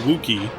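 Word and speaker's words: Wookiee: Okay, so you're pronouncing Wookie, like, or you're pronouncing it... You need to switch those, is my point. It's roof and wook, like W-U-K.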